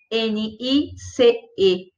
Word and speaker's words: nice: portuguesa na cabeça então quando você for falar essa palavra em inglês você percebe que não há interrupção e portanto a palavra nice tem uma sílaba só presta atenção mais tem